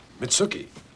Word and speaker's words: Mitsuki: Mitsuki. Rhymes with nookie.